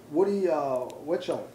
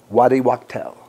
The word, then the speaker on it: Waddy Wachtel: So, Slash, Woody Witchell. Did I pronounce that right? Waddy. Waddy Wachtel. Wachtel, yes.